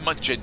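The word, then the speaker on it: München: Planet Munchen. Yes. Munchen. Is it IU? Because it has the umlaut over the U. You're supposed to pronounce it as with a U sound.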